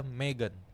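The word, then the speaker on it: M3GAN: dan negara gitu oke itu adalah Meghan Emang bacanya gitu bukan IM3 gitu siapa tahu kan cara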